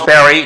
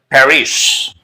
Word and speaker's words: Paris: use Perry not Paris you may also pronounce Perry if you want to follow the French linguistic rule actually let me just